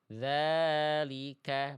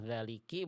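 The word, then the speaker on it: ذٰلِكَ: Tinggal kafnya tinggal dilihat harakatnya harakat baris atas berarti dia dibaca pakai vokal a ka gitu ya. Dalika bukan daliki bukan daliku ya.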